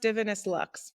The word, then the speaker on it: Divinus Lux: So it's actually pronounced Divinus Lux. Thank you. Of course, but it is a V. So understandable. It's kind of like how Bulgari looks like Bavulgari, you know. It's a Latin word and it means divine light.